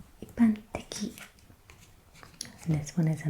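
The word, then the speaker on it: 一般的: The fourth example is generally, and that is pronounced ippanteki, ippanteki.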